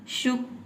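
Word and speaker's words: shook: फिर second form हो, अगर वहाँ पे डबल ओ के बाद की आता है तो उसे आपको थोड़ा हल्का प्रोनाउंस करना है, ठीक है। टुक, शुक, थोड़ा जल्दी बोल देना है, ठीक है।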